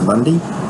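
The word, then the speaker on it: Mundie: So Mundy Place, Bray Park, and as Barry said, M-U-N-D-I-E is Mundy. It's not M-U-N-D-Y. So it's Mundy, like.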